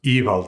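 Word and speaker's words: Ivaldi: But one of the most consistent things about the old Norse language is that the emphasis goes on the first syllable. So, evald not.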